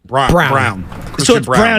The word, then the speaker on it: Braun: Denver giving their rookie is it Braun or brown brown even though it's spelled differently anyway he got a